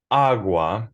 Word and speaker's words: agua: on that syllable so agua has the emphasis on ah therefore you can't say